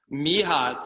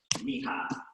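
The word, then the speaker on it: Mirra: Mija, it looks like it's spelled Mira, M-I-R-R-A. That's how you pronounce it, huh? Mija. Mija.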